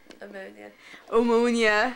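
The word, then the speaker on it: pneumonia: Say the word that starts with a silent P. You think starts with an O. Ammonia. I spell it P-O-M-E-N-I-A. There's no O. It's P-N.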